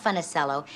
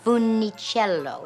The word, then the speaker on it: Funicello: you are mispronouncing it it is not funnicello it's funnycello it's a beautiful italian name once people learn how to pronounce it they won't forget it and i said yes